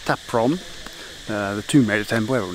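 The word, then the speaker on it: Ta Prohm: Okay, so that was, I believe it's pronounced Taprom, the Tomb Raider Temple.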